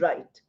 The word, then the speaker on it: write: Now w R I T E also should be added here. You know that also is pronounced as right.